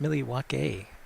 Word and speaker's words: Milwaukee: No, Peter, it's actually pronounced Milwaukee.